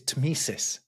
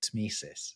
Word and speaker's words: tmesis: One that is really quite difficult to pronounce is tmesis.